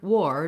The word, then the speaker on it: war: and the R together, instead of this sounding like an R, as in car or far, etc., it sounds like or, as in store and chore. So the word war, W-A-R, is pronounced the